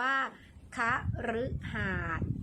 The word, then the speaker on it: คฤหาสน์: ท้าย นั่น ก็ คือ คำ ว่า คฤหาสน์ ออก เสียง รึ หมาย ถึง เรือน ขนาด